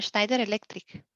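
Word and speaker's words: Schneider Electric: una moto skiner eléctrica así se pronuncia en sneider Electric sneider sneider Electric Okay entonces dice que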